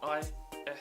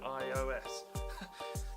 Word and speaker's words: ISO: That is aperture, shutter speed, and ISO. I was saying it wrong in the last one. I think I was calling it iOS.